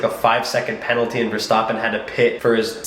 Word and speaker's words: Verstappen: It was a really, really close drive between Verstappen, that's how you pronounce his name, and Hamilton, as per usual, as it kind of seemed it's been all season.